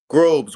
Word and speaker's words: Grobes: Raj Robeson I pronounce the last name right grube's one syllable your rows of ESPN Los Angeles you